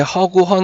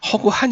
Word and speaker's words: 허구한: 초 자 그 다음에 허구헌 은 사실 허구헌 날은 꽤 사람들이 많이 발음을 하는데 허구한 이 맞아요 그쵸 그래서 허구 안에